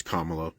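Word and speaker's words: Kamala: business first of all it's kamalo she's been a prominent figure for 10 years pronounce her name correctly it's like a respect thing and secondly if we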